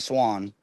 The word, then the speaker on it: Swain: Oh, it's Swain, but they pronounce it Swan.